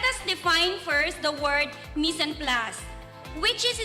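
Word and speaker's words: mise en place: we begin let us define first the word miss and plus which is spelled as m i s e space e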